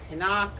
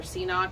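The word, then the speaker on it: CNOC: So I've currently been carrying these Canuck or Ceanock, I think maybe it's pronounced Canuck bags.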